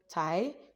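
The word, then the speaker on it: TAJ: insurance here is called Tai t a j but J is pronounced as Y in Hungary so the tie card you would have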